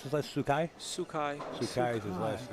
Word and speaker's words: Sookhai: Yeah, how do you pronounce his last? Sookhai? Sookhai.